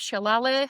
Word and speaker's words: Selale: So yeah uh some people know me as Shalle which is my name and it means in